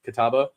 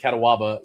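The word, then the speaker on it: Catawba: When I when I first moved to Charlotte, there's a there's a uh there's a river called Kataba. Uh c a t- wab a kataba. Well, I pronounced it katawaba.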